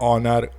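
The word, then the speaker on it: honour: ठीक है तो अ इसमें भी देखो एच जो है वो साइलेंट है लेकिन इसको रीड कैसे करते हैं ऑनर ओ तो इसके आगे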